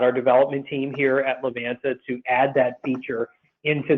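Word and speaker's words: Livanta: And yes, we pronounce it Levanta.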